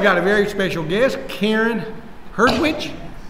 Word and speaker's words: Karen Hertwich: Today I've got a very special guest, Karen Hertwich. Yes. Did I pronounce that right? Yes.